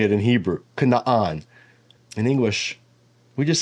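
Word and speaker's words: Canaan: is not always consistent so in this case the two A's in Canan just get shortened and the stress falls in the first syllable but all this to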